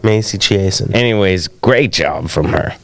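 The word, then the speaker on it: Chiasson: They were pronouncing her name Chasson. Yeah, that was weird. I'm like, what is she, French or something? I never heard that. They had always been calling her Chiasen. Chiasen, that's right.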